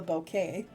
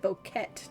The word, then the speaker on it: bouquet: Sound like you said bokeet. I did. I always Okay. Cuz I'm like coke. Um it's like Okay. No, it's it's it's not pronounced the way it's spelled in English.